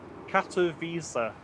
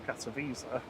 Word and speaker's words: Katowice: Katowice. Katowice. So that's one that's not spelled anywhere near how it sounds. Yeah. So, Well, it is if you just pronounce the letters different.